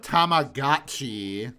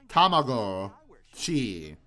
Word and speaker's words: Tamagotchi: See, this guy pronounces it correctly, motherfuckers. There are Not Tamagotchi. Get out of here. Tamago-chi.